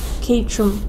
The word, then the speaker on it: Caterham: No, I just want to know how it's pronounced, so I wouldn't be able to. It's Caterham.